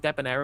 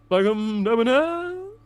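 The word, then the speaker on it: Debbonaire: ] giant turnout and an absolutely demolished Fangam Debonire in Bristol Central. Sorry, pronounce it correctly, please. Deonire, thank you.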